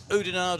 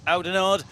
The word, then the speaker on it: Oudenaarde: by city mountain bike we are in eudenard or aldenard depending on your pronunciation we are back once